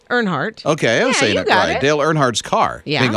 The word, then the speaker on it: Earnhardt: del art or aren't Earnhardt's of sing his name wrong all right ernhardt okay Dale Earnhardt's car getting auctioned off why